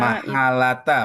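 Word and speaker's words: محالة: Harfu taswif tabeki itu fil mudhari la nafi muhalata Mahalata bacanya. Bukan mahalata muhalata, mahalata.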